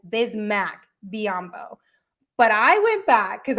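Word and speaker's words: Bismack Biyombo: to a 10-day contract had it pronounced bismarck biambo and since then all the way until the game the second time we played utah last wednesday that's when it was updated to bismack biambo but i didn't catch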